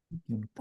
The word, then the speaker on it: 見てみた: Yeah, the stress is on the first me only. 見てみた。